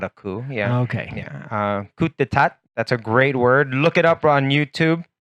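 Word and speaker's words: coup d'état: Very hard to spell this word. But you don't pronounce any of it. Just coup. Yeah, just the coup.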